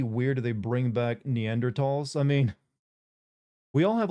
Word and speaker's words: Neanderthal: Do you prefer Neanderthal or Neanderl? Because technically it's Neanderl, but I've always like pronounced the th sound in there until recently.